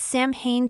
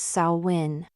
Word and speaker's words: Samhain: It’s Samhain tonight, right?” I winced at his mispronunciation but didn’t let him see. “It is. Only it’s pronounced ‘Sow win.’ Can you come?”